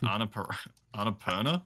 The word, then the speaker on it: Annapurna: Yeah, so once again, it's from God, I've always butchered the name of it. Annapurna.